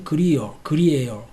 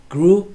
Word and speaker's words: Grier: 자, 발음이 John Grew 이렇게 들렸죠. John Grew 이렇게 발음이 들렸어. 이렇게 발음해줘야 돼. 자, 그러니까 우리는 발음할 때 Grier, 뭐 이런 식으로 발음했는데 들어보니까 다르잖아.